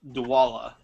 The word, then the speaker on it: Dwolla: I don't know how useful you'll find it, but you should look up the service called Dwalla.